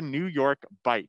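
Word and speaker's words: New York Bight: exhibit is called the new york bite now that is spelled b-i-g-h-t now the new york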